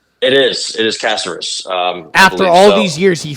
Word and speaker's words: Caceres: It is Caceres.